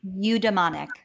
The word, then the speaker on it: eudaimonic: Am I saying it right? Eudonic happiness or Eudaimonic. eudaimonic? That's it. Eudaimonic.